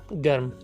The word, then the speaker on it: گرم: تلفظ ہے وقت۔ اچھا، اسی سے ملتے جلتے دو اور الفاظ جیسے نرم اور گرم، حالانکہ لوگ ان دونوں الفاظ کو غلط تلفظ کرتے ہیں، غلط طریقے سے پڑھتے اور بولتے ہیں، نرم اور گرم، جو کہ غلط ہے۔ اصل لفظ ہے نرم گرم۔ اسی طرح تیسرا اور